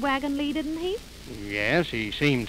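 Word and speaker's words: Wagons-Lits: dear this is the wagon lee office why it's spelt wagon lips i know it's spelt lit but over here they pronounce it lee oh i begin to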